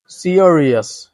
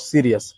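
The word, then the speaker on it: serious: dengue not dengue okay 13 number or 13 সিয়ারিয়াস নট সিরিয়াস সিয়া এখানে একটা আছে সিয়ারিয়াস সিয়ারিয়াস ঠিক একইভাবে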